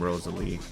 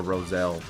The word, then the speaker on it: Roselle: I wasn't familiar with your game, Rosalie. Or Roselle. Yeah. I don't think it's Rosalie. I think they mispronounced her name.